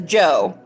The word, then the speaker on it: Djo: He goes by Joe, even though it has a D in front of it, which makes